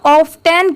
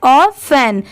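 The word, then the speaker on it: often: बट यहां पर इसे क्या प्रोनाउंस किया गया है? ऑफन। यहां पर ये जो टी है टी की साउंड ट की नहीं आ रही है। इसे ऑफेन प्रोनाउंस किया गया है। टी लेटर साइलेंट है। ठीक है? यहां पर ओ एफ ऑफ और इ एन एन दोनों को मिला दिया गया है। ऑफेन टी यहां पर साइलेंट है।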